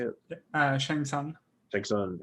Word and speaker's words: Shang Tsung: they showed him going through the years as Shang Shun, is that how you say it? Shang Tsung.